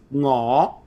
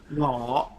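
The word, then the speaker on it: Ngoh: Ngo. Oh fuck that. Ngo.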